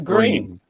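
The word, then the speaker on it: Gruene: pronounce this how would you pronounce this uh it's spelled g g-r-u-e-n-e that's green but i know the town that's why that's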